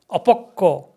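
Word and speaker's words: অপক্ব: We say paripakko, apakko.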